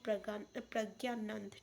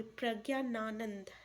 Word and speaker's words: प्रज्ञानानंद: तो इसका correct answer क्या हो जाएगा, तो याद रखिएगा रमेश बाबू प्रज्ञानंद। ठीक है, सॉरी प्रज्ञानानंद। ठीक है, इससे अच्छे से प्रोनाउंसिएशन कर लीजिएगा।